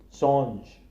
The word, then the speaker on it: Singe: Singe, monkey. Here the I is pronounced as A.